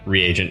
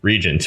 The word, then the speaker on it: reagent: that's basically wow yeah reagent probably really is the way you tr you pronounce that because yeah that makes a whole lot more sense than the way i always thought it was which is just regent which is totally wrong wow